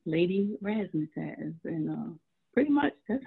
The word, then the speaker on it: Raszmatasz: on my name became rasmus has and i spell it r-a-s-z m-a-t-a-s-z and it's also because it's the way i pronounce it rest so like raspberry you know right right